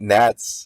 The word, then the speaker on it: gnats: It was I hate gnats because they just don't What was it? It was something like they don't have any purpose and even the G is silent.